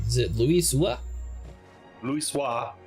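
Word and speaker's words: Louisoix: Luis Wisah. Luis Wisah. How do you know this? Cuz it's French.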